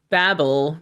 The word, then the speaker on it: Babel: They're both correct. Uh uh depending on where you are on the in the world. Yeah. Perfect. So I think Americans say Babel and UK says Babel.